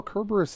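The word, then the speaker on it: Cerberus: Well, Kerburus is how you would pronounce it in ancient Latin.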